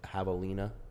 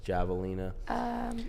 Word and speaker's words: javelina: Like javelina, Yeah. and it's javelina.